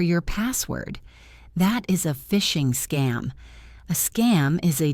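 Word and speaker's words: phishing: One of the most common threats is fishing. Fishing is spelled with a P, not an F. It sounds exactly like fishing for fish, but it means criminals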